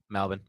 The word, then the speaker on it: Melbourne: Melbourne. And see, that's how you know I'm Melbourne? That's how it's pronounced?